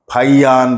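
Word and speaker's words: Faxian: फाइयान इसके बाद में आता है ये स्पेलिंग तो यह है लेकिन इसको फाइयान बोला जैसे इत्सिंग इसको बोल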